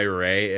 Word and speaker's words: Ray: I think because I go by Ray and always shorten my name, it's just my tendency to try to shorten everybody else's names. Mhm. Hi, Charlie. Dude, on that thought, my name rhymes with hey, so I am turning